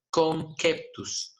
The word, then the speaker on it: conceptus: Entonces, en esa época, al feto se le conocía como conceptus. Esa es la pronunciación correcta, ¿ya?